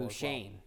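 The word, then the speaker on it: Beauchesne: also scored two goals and then Quinn Buchane scored a goal. Buchane, that's how you say his name, though.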